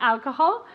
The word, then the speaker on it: alcohol: Alcohol. Alcohol. Okay, accent on the first one.